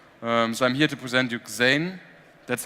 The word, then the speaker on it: Xane: So I'm here to present you Xane. That's how it's pronounced, Xane.